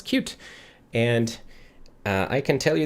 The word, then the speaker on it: Qt: i just learn this yes that is indeed how you pronounce cute and i can tell you this for sure because um i used to work on the cute team at nokia so